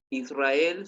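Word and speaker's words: ישראל: Oh, disculpe, en el caso de Israel se acentuaría en la E. Sí, aquí en la última sílaba.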